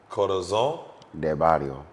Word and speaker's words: Corazón de Barrio: Corazón Corazón de Barrio. de Barrio. That sounded French. Corazón de Barrio. Corazón de Barrio. That's right.